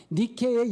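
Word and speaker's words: Νίκη: 나이키가 니키에 온 거예요 니케의 영어 발음이 나이키 그래서 나이키는 승리의 여신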